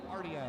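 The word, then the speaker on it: Vanguardia: We're going to get a call uh a timeout call from Coach Ariel Vanguardio. Guardia is how you pronounce it.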